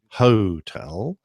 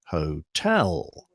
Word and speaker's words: hotel: for example hotel isn't hotel it's hotel generally speaking or perhaps more correctly phonetically speaking the emphasis is on the first syllable except for November and Sierra the middle cut power